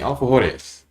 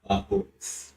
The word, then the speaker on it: alfajores: We'll be making alfajores. Jaime, correct me if I'm pronouncing that stupid. How are you supposed to pronounce it? Alfajores.